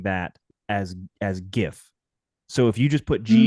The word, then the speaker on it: GIF: Well, if it's a soft G is how he's saying it, then GIF would be correct because think about like giraffe, giraffe.